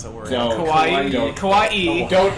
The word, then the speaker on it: kawaii: I don't know how to pronounce that word. No, kawaii.